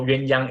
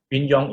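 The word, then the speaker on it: 鸳鸯: yang or yun young so yuen yang is mandarin for the mandarin ducks the couple the the bird young is the cantonese pronunciation of it so different places called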